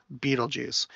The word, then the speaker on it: Betelgeuse: Someone told me that this was not pronounced Betelgeuse, but it is. Beetlejuice.